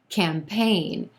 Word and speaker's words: campaign: of number seven campaign campaign two syllables here emphasis on the second syllable and the a is in gray vowel sound campaign that letter g in there doesn't do anything totally silent and our first syllable